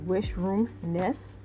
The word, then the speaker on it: Wishroomness: I had mispronounced the author's name. Her name is Wishroomness.